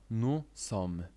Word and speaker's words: nous sommes: I tak jak w przypadku litery „e”, jeśli na końcu słowa widzisz „s” , nie czytasz go. Nu som.